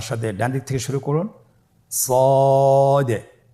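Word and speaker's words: ص: সদ হরফটি পুর হরফ, মোটা হরফ উচ্চারণের ক্ষেত্রে মোটা করে পড়তে হবে এবং উচ্চারণ করার সময় তিন আলিফ টেনে পড়তে হবে। আপনারা আমার সাথে বলুন সদ। আবার বলুন সদ।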